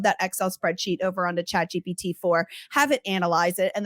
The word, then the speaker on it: ChatGPT: Is it GBT? Did I say it right? Chat GPT. Yes. Chat G. Oh, PT, goodness.